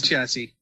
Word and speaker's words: chassis: The chassis of the pizza. I think it's chassis. It's chassis. Chassis? Yes. That's how it's pronounced. It's kind of like Cassie, but with a ch.